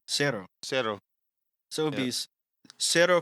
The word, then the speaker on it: cero: How do you say zero officially? Cero.